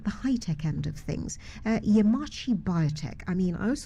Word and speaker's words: Yemaachi: So Yemaachi Biotech, simply put, it's not Japanese, so I think Dr. Totimeh pronounced it correctly, where it's more like Yemaachi. It's a combination of a few Ghanaian languages.